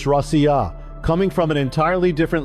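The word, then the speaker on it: Россия: In the same way, Russia in Russian isn't even pronounced Rush or Rush, it's Rossiya, coming from an entirely different linguistic stream.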